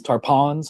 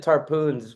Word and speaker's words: Tarpons: Tarpons, tarpons, how do you say it? Tarpons. Tampa tarpons. I said tarpoons when I was in Fort Myers first two years when I wasn't familiar. So, I learned the hard way.